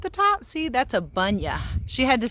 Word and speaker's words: bunya: See, that's a bunya. She had to spell it for me. B-U-N-Y-A, a bunya tree.